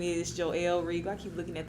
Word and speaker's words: Joell: good time um so yes my name is joelle regal i keep looking at the microphone like